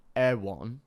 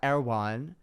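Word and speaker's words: Erewhon: r e w h o n Air1 it's pronounced like airan but Americans like Air One um a and it was packed full of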